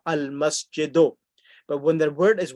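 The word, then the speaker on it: المسجدُ: So remember that whenever there's alif lam, the last letter gets one dhamma, al-masjidu.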